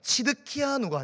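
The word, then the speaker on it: צדקיהו: 여러분들 이 시드기야를 한글 발음으로 하면 시드기야이지만 이 히브리어 전통 발음으로 하면은 뭐냐면은 치드키아누가 됩니다.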